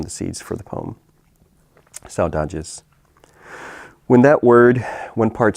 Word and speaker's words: saudades: and after a while I started hearing sow, like a pig, and then dodges, and then that actually,